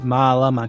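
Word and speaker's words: mālama: malama que significa luz aqui nós temos apenas um stress group perceba que a sílaba tônica fica na penúltima sílaba agora vejamos o que acontece quando utilizamos o kac kanaka que significa pessoas no plural e malama que significa tomar conta de algo vejam que a cía tônica mudou para onde o carac se encontra vamos olhar agora duas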